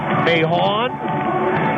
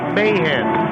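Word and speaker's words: Mahoon: of the night it is spelled m a ho o n you might look at it and say Mayon but it's or Mahan but it's Mayhan so for Kyle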